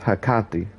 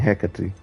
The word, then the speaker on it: Hecate: I also heard the name pronounced hakati and I kind of like her coffee better but I'm more prone to saying Hecate you mentioned hogsmeade Professor